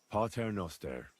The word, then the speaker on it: Pater noster: You're saying it wrong. Listen. It goes like this. Pater noster qui es in caelis sanctificetur nomen tuum.